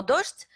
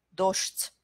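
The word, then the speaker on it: дождь: C'est pourquoi ici, on change en fait la prononciation des deux consonnes ensemble. Dosht.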